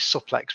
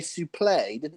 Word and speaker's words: suplex: website he's got on he says suplex and I might I have never heard anyone pronounce it sup likes before but he's adamant that he's right I'm like okay fine he's one of the commentators used to say sooo play I think it was